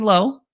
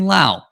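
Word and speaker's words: Lowe: saying the right thing not saying low but saying Lao as you might know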